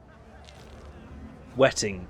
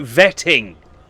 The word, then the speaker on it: vetting: No, vetting. Vetting. I realise that there are some regions of the world for whom the W is pronounced with a verse sound, and therefore vetting can be written as wetting.